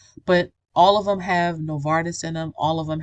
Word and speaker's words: Novartis: Novartis, that's how you say it, Novartis, which I believe is a big pharma company.